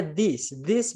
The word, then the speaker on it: these: Jadi tulisannya beda ya sama bacanya, teman-teman. Kalau tulisannya I bacanya pakai E, kalau tulisannya E bacanya pakai I, jadi ditukar. Kalau ini bacanya these books.